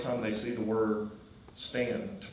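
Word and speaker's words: Staunton: We all know how to pronounce Stan, right?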